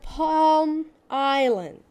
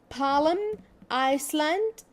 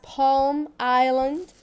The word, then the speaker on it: Palm Island: E what about the palm island this is the palm island please pay attention that we do not say ba paalam iceland no ladies this is wrong pronunciation we pronounce it as palm island so of course you